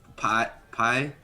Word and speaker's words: Pi: Pi is the goddess Pi. Oh. Spelled like this. But you are more than welcome to wrongly assume he mentioned it meaning a pie.